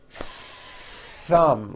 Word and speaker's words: thumb: that you see that notice how long I'm holding the th sound thumb it's not good enough just to put your tongue between your teeth and say a th word like this thumb you see that my tongue came out but there was never any air friction that's not good you must stretch out the th sound and hear the air friction thumb like that let's